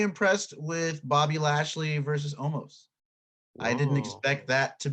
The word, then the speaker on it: Omos: with bobby lashley versus omos i didn't expect that to be much of anything and or omas i guess is how it's pronounced uh omas was like